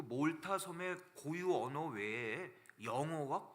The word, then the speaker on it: 몰타: 있는 몰타 선물 말합니다이 독일 사람들은 그걸 말타고 발음해요 예 그 MTA 예 영어로는 이제 몰타 이러는데 여러분들 그 독일에 몇 번 와보시면 아시겠지만 독일 사람들 그걸 그냥 아로 발음 하잖아요 그래서 몰타 말타 그럽니다 몰타는 굉장히 독특한 섬이에요